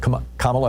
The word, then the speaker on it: Kamala: and Michelle Obama endorse kamla Harris for president kamla Harris there you go saying it right now